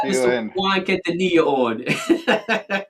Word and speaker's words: Quintanilla: Juan Quintanilla. Hey, Juan, what's up, guy? Did I pronounce it correct or what? You said it better the first time, Jim. Quintanilla. Quintanilla.